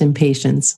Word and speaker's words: impatiens: really helpful is called impatiens which is really easy to remember what it's for because to me it sounds a bit like impatience and here in the states it is pronounced impatience oh it is oh